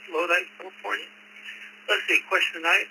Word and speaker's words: Lodi: You got it correct, Lodi, California. Let's see, question tonight. I'm a member of 3 clubs, the Lodi Club right here in town.